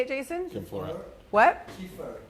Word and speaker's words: Kfir: Kiefer, K-F-I-R. KFIR. He's a brilliant artist.